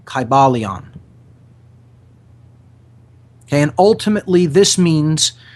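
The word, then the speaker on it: Kybalion: take their time reading it read it slowly it's spelled k y b a l i o n kybaleon okay and ultimately this means the spirit of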